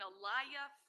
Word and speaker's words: Aaliyah: And in this particular case, um, there was an Aliyah Field, correct? Am I pronouncing her name correct? Aliyah. Aaliyah Fields.